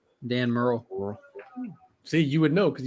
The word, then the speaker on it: Murrell: You pronouncing his name. What was his name? Merle. Dan Merle.